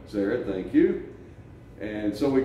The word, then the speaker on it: Zered: We proceeded across over the water, Zered, pronounce that for me. Zered. Zered, thank you.